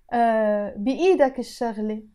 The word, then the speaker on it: بإيدك الشغلة: You notice here in Arabic, I wrote بإيدك الشغلة again because the sheen is a sun letter, so I don't pronounce the ل.